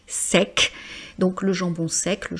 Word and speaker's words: sec: Là aussi je prononce donc EC hein, comme avec sec.